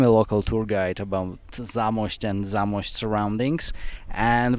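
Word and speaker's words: Zamość: the beautiful city of my last chance to mispronounce something zamos it's zamos that was close actually you were close and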